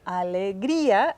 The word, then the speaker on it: alegría: So, alegría, accent on the I.